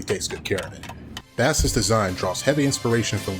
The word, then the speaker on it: Bass: can be interpreted as a play on lords phonetically in japanese which sounds like bass speaking of which bass is sometimes pronounced bass by western fans but seeing as his namesake